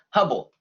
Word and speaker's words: Hubble: It rhymes with bubble. Herbal? Close. Hubble.